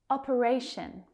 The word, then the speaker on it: operation: Operation. Operation. That third syllable is stressed.